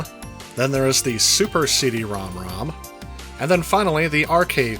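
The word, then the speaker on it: CD-ROM²: at it written out however it is officially pronounced cd-rom rom as opposed to cd-rom squared or cd-rom 2.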